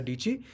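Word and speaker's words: Dietschy: tagline of her channel is "My name is Sarah Dichi. It rhymes with Peachy," and that is the only reason I remember her name.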